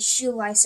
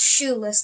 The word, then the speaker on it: Shoeless: I know I pronounced it Shoelice at one moment. It's Shoeless kind. Get it right.